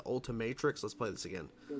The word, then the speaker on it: Ultimatrix: and improved Omnitrix with it's not what it's called the ultimators I think it's pronounced the Ultimatrix let's play this again